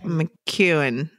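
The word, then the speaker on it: McKeown: essentialism bits and pieces Greg McKay McEwan it's how you say it I think cuz he's Scottish I've had the actual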